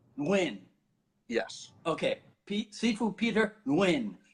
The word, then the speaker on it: Nguyen: So the best English pronunciation of the name is Nguyen. Nguyen.